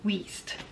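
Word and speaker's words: Wiest: it's German for and it's pronounced waste even though it's spelled with a w i e s t.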